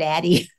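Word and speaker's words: Addyi: When you say these drugs like Addy, how do you pronounce it? I call it a D, but I don't know. Some people call it Addy.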